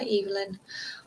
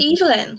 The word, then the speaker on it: Evelyn: have i have read seven deaths of uh evelyn castle and i did not that's how i pronounced it in the audiobook it's pronounced evelyn sorry um yeah no i still like this